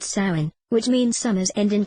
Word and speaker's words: Samhain: There are 3 stages of Halloween's development: Samhain, pronounced Samhain, All Hallows Eve, and Halloween.